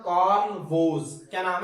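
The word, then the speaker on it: Woese: थे American biologist थे जिनका नाम था कार्ल वोज क्या नाम है कार्ल वोज इनके स्पेलिंग धन रखने है डब्लू ओ ई एसई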